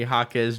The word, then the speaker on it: Jaquez: You don't pronounce the U.